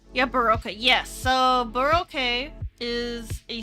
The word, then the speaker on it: Baroque: Okay, it's pronounced Baroque.